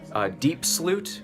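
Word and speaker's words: Diepsloot: right now look up deep Sloot which is spelled like Diep SLO ot and then there's kaya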